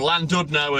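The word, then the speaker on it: Llandudno: You must have heard of Landidno or Landudno as uh nonWelsh speaking people would pronounce it.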